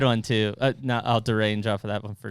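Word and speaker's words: derailleur: too uh no i'll derange off for that one for a second deranged uh so i had this daryl's pronounced like derail i had that up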